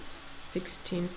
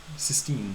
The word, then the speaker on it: Sistine: What is the difference between the paintings of, let's say, I don't know, the naked women in the 16th Chapel? Is that how you say it? Sistine.